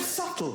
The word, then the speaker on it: subtle: waste of everybody's time the word subtle would anybody object if it was spelled SLE not a single person would but there's a bee in the middle going sh just ignore